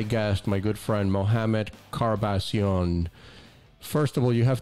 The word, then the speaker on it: Karbasion: be right in America so you can say Chara bossy on you can say kar-bash-ian you can say Kardashian we won't say Kardashian